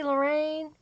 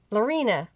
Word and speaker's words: Lorena: Christy, Lorraine. Lorena. Is it Lorena? I'm sorry. I've been saying your name wrong.